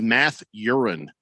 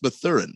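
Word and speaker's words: Mathurin: yeah he's the man i don't think his name is math urine yeah i believe it's pronounced the thurin if i don't there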